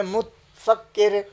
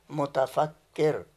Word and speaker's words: متفکر: اب مجھے جب یہ معلوم ہو گیا تو میں متفکر متفکر یہ نہیں کہوں گا. بالکل. میں کہوں گا، اگر مجھے ہجے معلوم ہے واہ. کیا کہوں گا؟ متفکر.